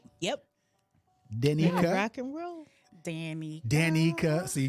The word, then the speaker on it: Dannika: Like I said, I'm going to just say it once, but I'm going to pronounce it to your audience. go ahead. You do that, please. It's Dannika.